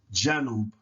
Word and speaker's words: janub: And a soft sounding A is as in after, apple, right? So this word would be pronounced janub, janub, janub.